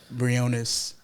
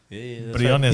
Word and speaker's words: Briones: Briones. Briones. Yeah, Briones. Yeah, Right. You yeah. said it perfect. Briones. Exactly, accent and all. can say it. Yeah, my name is Briones, Briones.